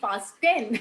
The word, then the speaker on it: fasten: So in fasten, we don't really have the sound of T. So it is Yes. FASTEN, but we don't say fasten. We say Yeah. fasten, Fasten.